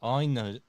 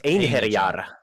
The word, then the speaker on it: Einherjar: I will be casting Einajar. Am I saying that right? Einajar. Do you actually want to get the correct pronunciation? It's because in Nordic languages, especially in Finnish, e is pronounced e. It's Einherjar.